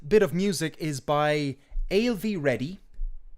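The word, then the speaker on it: Ailbhe: of music is by alv reddy it took me a while to pronounce her name it'll be a i l b h e uh she's an indie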